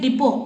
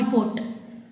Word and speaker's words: depot: should we pronounce it depot not deport that's why t is silent here the letter p is